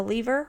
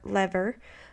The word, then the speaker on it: lever: go over are the lever or lever the wheel and axle the inclined plane the wedge the screw and the pulley so starting out with a lever or a lever either pronunciation is correct um it's a rigid